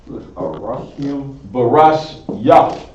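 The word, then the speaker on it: בראשית: You got another syllable another syllable to add on to that. Barash Yah.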